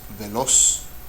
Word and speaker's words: veloz: This is pronounced veloz, veloz, and it means quick, related to the word velocity in English. Veloz, so the accented syllable is the last one, which means aguda.